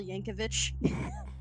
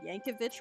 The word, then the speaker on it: Yankovic: had with Weird Al Yankovich that's Canon I'm not making that up oh Yankovic okay I've been saying yanovich my whole life I feel embarrassed I